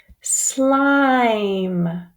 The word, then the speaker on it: slime: Slime.